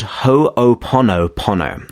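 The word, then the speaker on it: Hoʻoponopono: know if i will but it's actually called ho oponopono okay and that's actually about h-o-o-p-o-n-o-p-o-n-o so it's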